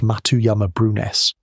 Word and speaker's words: Matuyama-Brunhes: Earth's magnetic field flipped polarity, the Matuyama-Brunhes reversal, pronounced Matuyama-Brunhes, one of the sharpest time markers that exist anywhere on this planet.